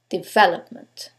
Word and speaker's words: development: Now, Let's decide which syllable takes the stress. Is it the first one, development? Is it the second one, development? The third one, development? Or the last syllable, development? In this case, it's the second syllable, development.